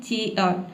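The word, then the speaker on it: chair: इसको हम बोलते हैं चेयर, ठीक है, चेयर। चेयर नहीं बोलना है। यहाँ पे आप चाहे R को यदि आप साइलेंट रखते हैं तो आपका प्रोनाउंसिएशन बिल्कुल सही होगा, 100% करेक्ट होगा।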